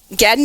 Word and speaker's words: Gagnon: and uh and an amazing individual uh Rosie Gan. Am I pronouncing your last name? I never asked you, my dear friend. Is that how it's pronounced? Pronounce your last name. Um Gan.